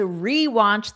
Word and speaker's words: rewatch: sounds are unstressed, but when you add re to the beginning of the word, to the verb to mean do it again, whatever that verb is, do it again, you have a long E sound.